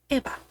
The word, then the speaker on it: Eva: bit of context first, my real name is Eva, or as it's pronounced in Spanish because I am half Mexican, Eva, which is the Spanish way of saying Eve.